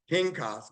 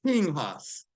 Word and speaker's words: Pinchas: Well, it's, in English, it's pronounced Pinchas, but in Hebrew, it's Pinhas.